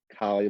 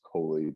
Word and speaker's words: Colley: Yeah, it's pronounced Colley, but everybody says Colley, but honestly, it does not matter.